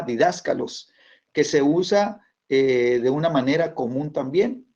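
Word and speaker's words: διδάσκαλος: El acento en la A, didáscalos, que se usa de una manera común también.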